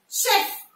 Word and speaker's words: chef: Chef. C-H-E-F. Here, this C-H will be pronounced as sh. Chef. Chef, not chef.